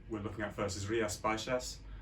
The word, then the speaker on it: Rías Baixas: The name of the area we're looking at first is Rías Baixas. That's the nearest pronunciation in the way it's pronounced.